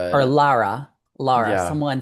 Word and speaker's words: Lara: Or Lara? Lara? Someone said, "Don't say Laura, it's Lara." Lara.